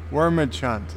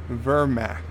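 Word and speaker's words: Wehrmacht: Wormachunt is pronounced Vermacht.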